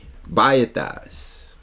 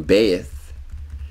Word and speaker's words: Bet: let's look at the Bas a lot of people pronounce them Beth but when you look at it it's actually B the importance to understanding